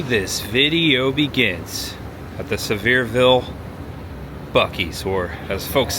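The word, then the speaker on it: Sevierville: Do we say Severeville or Sevir? Severeville. It's a mouthful. Yeah, I think. Say Severeville. Yeah, I think that's what the locals say. Severeville. It's kind of like Louisville.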